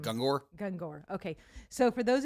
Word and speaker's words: Gungor: I think How do you pronounce his last name? Gungor.